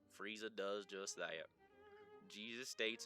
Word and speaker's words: Frieza: Frieza practically rhymes with Jesus. Frieza, Jesus.